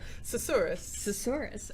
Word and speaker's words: Susurrus: And we're going to speak a little bit about, I also cannot pronounce this game's name. Susurrus.